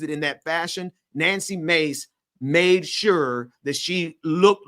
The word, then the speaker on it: Mace: He said Mace, not Macy. So thank you for saying it correctly, Ben. I was saying it wrong. It ain't Macy. Sorry. Mace like the spray.